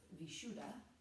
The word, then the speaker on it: Vishuddha: Today's class will focus on the 5th chakra, and in Sanskrit it's pronounced Vishuddha.